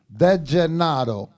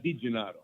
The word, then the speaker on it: DeGennaro: DeGennaro. De Gennaro. Yes, sir. So De Gennaro, not Di Gennaro. DeGennaro. Yeah, DeGennaro. DeGennaro. D-E. Saying it right. So like San Gennaro, DeGennaro. Well, so one of the